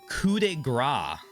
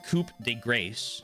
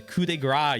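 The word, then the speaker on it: coup de grâce: When I was younger, I learned coup de grace, which I always pronounced coupe de grace until my mom, who speaks French, is like, why are you saying it like that?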